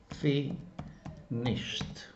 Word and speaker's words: finished: And we pronounce like that. Finished. okay, finished, because the final sound is sh, and it's pronounced like T.